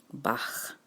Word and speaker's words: Bach: Johann Sebastian Bach but you pronounce it with a little softer ending so Bach so it doesn't sound like you're making the sound of a chicken so he's a BA